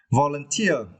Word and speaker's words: volunteer: volunteer it developed okay volunteer volunteer yeah and for this person you need to start uh for the final syllables right the third syllable tier okay volunteer okay volunteer